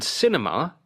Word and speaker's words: cinema: On cinema it is the first syllable. Cinema.